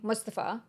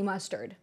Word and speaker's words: Mustafa: couldn't pronounce my name, Mustafa. Like, if you can watch The Lion King and say Mufasa, it's very close. So he would just call me Mustard.